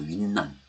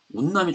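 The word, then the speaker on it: 雲南: 거예요 지금이 원칙이라고 하는게 근데 윈난이라고 하는 거는 운남이거든요 운남이 중국반이 운남 도시 이름이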